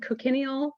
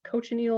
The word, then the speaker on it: cochineal: So I've always said cochineal, but apparently I'm saying it wrong. It's cochineal or something.